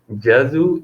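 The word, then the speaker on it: ジャズ: Jazu is jazz. Okay, you need to be careful about the pronunciation for what written in katakana. Kurashiku, jazu. Okay, otherwise Japanese people not understand.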